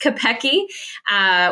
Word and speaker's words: Kopecky: Looks like Kopecky, but it's pronounced Kopecky.